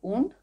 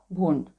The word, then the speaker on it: Wundt: পরীক্ষামূলক মনোবিদ্যার জনক হলেন উন্ড, WUNDT, উচ্চারণটা দুভাবে হয়, উন্ড বা ভুন্ড।